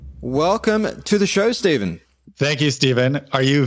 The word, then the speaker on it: Steve: N at the end Steve one syllable none of these two syllables love my family my